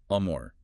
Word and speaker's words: Amr: So for Hazat Alban al-A, the correct pronunciation uses an A sound. Think of the A in father or car. It's amore.